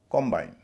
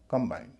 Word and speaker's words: combine: COMBINE, गठजोड़, noun है। कॉम्बाइन, कॉम्बाइन, COM का उच्चारण ओ होगा क्योंकि पहले इससे पर स्ट्रेस है, नाउन है। लेकिन अगर वर्ब के रूप में इस्तेमाल हुआ कंबाइन, कॉम्बाइन, कंबाइन।